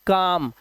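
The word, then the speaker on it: calm: और एम से पहले देखिए एम से पहले आया एल। इसे पढ़ते हैं काम। कालम नहीं। इसी तरह से यह बालम नहीं है। इसे पढ़ते हैं बाम।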